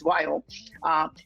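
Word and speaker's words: Viome: is science or science of light but anyways why oh and the reason i started was very simple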